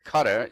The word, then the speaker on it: Qatar: you won't believe it cutter that's spelled q a t a AR cutter buys a soccer